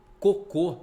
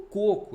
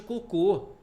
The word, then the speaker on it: cocô: cocô já é cocô Por que Que cocô tem acento porque é uma oxítona terminada em o aí ó cocô você não fala cocô é cocô tem gente que confunde cocô com coco eu já vi placa